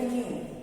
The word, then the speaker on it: knew: KNOW इज नो, और इसका हो जाएगा न्यू, KNEW, न्यू, नो, न्यू। ये नया वाला न्यू नहीं, NEW न्यू नहीं है, ये KNEW न्यू है, जिसमें कि के साइलेंट है।